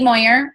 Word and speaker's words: Meuer: my name is Moyer I know my last name looks like me or and it's really fine